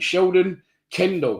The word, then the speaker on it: Sheldon Cundle: Sheldon, what have I said his name wrong? No, I haven't. Sheldon Cundle.